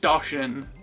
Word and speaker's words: Doshin: It's pronounced Doshin.